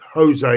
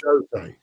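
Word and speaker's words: José: in Spain, it's Jose, isn't it? Rather than Jose. So they don't pronounce the J.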